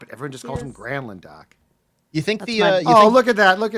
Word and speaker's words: Granlund: Was it Mikhail? Granlund. Gronlund. It was Gronlund. That's what Doc said, and they. I think they finally said stop it. Everyone just calls him Granlund, Doc.